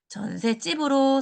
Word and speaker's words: 전셋집: 사이시옷을 표시해 주다 보니까 그러면은 요게 기존의 발음을 존중해서 전셋집으로 소리 나는 것도 인정을 해주게 된 거고 여기 오른쪽에 보시는 것처럼 요 시옷 받침이 디귿으로 바뀌어서 나게 되는 전셋집이라는 요 말도 표준 발음으로 인정을 하게 됩니다.